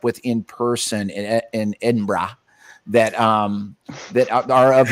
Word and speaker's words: Edinburgh: Edinburgh Edinburgh Edinburgh.